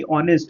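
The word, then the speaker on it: honest: शुरू हो रहा है लेकिन एच क्या है यहां पे? साइलेंट। अगर हम यह भी बोल सकते हैं कि इनका जो इनका जो प्रोनंसिएशन यानी कि जो इनका उच्चारण है वो कैसे आ रहा है?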